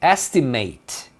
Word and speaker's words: estimate: Então, esse final at ele é pronunciado eight, mas nem sempre. Quando que ele é pronunciado eight, igual o número oito. É, quando você tá falando de um verbo, tá vendo que tem esse to aqui? Porque eu tô falando de um verbo. Então o verbo estimar é to estimate. Então você pronuncia como at.